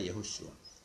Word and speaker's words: 예호슈아: 뭐 영어식으로 하면 이제 제호슈아지만은 그 이제 성경에 나온 이런 이름들 이제 J는 이제 Y로 발음을 하거든요. 그러니까 이제 예호슈아가 되는 겁니다. 예수가 아니라 예호슈아.